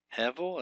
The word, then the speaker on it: Hevel: Hevel, that's two segols up in there, and the accent's on the first syllable, not the last syllable.